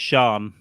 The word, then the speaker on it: Cian: Cian. It's pronounced Sean. Sean? Yeah.